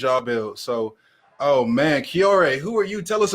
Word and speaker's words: Cioré: people are saying it with confidence so i'm kiore um i actually from the midwest i grew